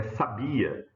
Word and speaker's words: sabia: Veja que o acento está dizendo para mim que a sílaba tônica é essa, né? Ó, sa. Essa de baixo é sabia, é o verbo saber, né?